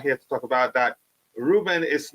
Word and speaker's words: Ruben: Ruben is not slow. He's pronounced like Robin.